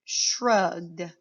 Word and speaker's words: shrugged: The word becomes shrugged. Say the word shrugged. Shrugged. You notice the ED here says D.